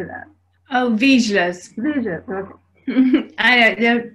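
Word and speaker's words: Vizslas: Oh, Vizsgas. Vizsgas, okay. They're pronounced differently everywhere, I think.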